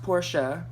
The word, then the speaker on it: Porsche: each other but I'm stupid so is a Porsche it's pronounced Porsche Porsche is the shortened version just like BMW